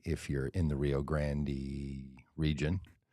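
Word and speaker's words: Rio Grande: to uh go to the Rio Grand River pronounced Rio Grandy if you're in the Rio Grandy region like Ariana Grandy yes yes and I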